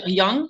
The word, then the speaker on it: Jung: so smart go heart go Carl is it Jung Hyung no yeah and jaybird pronounced Jung it's a Swiss my whole life